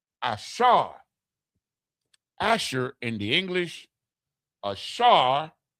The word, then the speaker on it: Asher: So now, number 8, Asher, H36, H836, Hebrew word number H836. Ashar, right? The the Shah, and the Ra, Ashar, means happy, glad, happy.